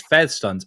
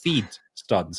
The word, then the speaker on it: FeeDStunz: I just said it right there that time, but yeah, it's FedStunz. And then everybody else is going, "It's not, it's FeeDStunz." And I'm going, "No, right? Like."